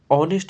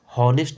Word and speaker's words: honest: ये इसलिए आता है क्योंकि ऑनेस्ट को हॉनेस्ट नहीं पढ़ा जाता, ऑनेस्ट पढ़ा जाता है।